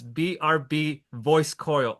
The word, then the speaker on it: BRB-VOICECOIL: it's strange the way it's spelled, but it's BRB voice coil all together with that little symbol.